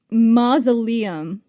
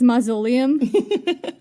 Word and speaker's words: mausoleum: And one of the words that I would pronounce wrong was mausoleum. And the way that I said it was mausoleum, like lenolium.